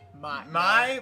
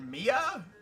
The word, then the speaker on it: Mie: My- May. May? M-I-E. M-I-E's pronunciation. Google Translate? Is it Mia? No, it's my.